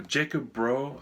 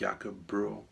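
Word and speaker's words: Jakob Bro: that setting um uh Jacob bro again I'm probably saying it wrong I think it maybe more like yakob Bru or something anyway he's Danish uh he made a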